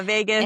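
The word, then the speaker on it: vagus: Vegas. Am I? Yes. But I'm like Vegas. It kind of sounds like Las Vegas.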